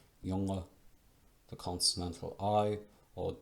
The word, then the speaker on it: Junge: Like German Junge, spelled with a J, Junge.